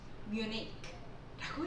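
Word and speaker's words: Munich: 자, 그런데 뮌헨을 영어 발음으로 같이 해볼게요. 뮤닉라고 얘기합니다. 뮌헨인데 왜 M이 안 들어갔나? 그래서 뮤닉라고 발음하는 거.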